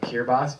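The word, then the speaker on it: Kiribati: like tuu or or nagu there's one called kirbas but it's spelled k k i r i b a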